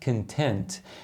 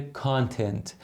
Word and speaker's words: content: معنی متفاوت بهمون میده توی متن خودمون تلفظش هست کنتن ولی خب توی بعضی جاها هم تلفظش ممکنه باشه کانتنت شما به عنوان تمرین